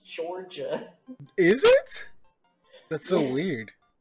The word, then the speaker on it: Durda: D-U-R-D-A. Hold on, let me. U-R? Yeah. Mm-hmm. D-A. That's pronounced Georgia, by the way. Georgia. I can see it if the D's are pronounced as J's.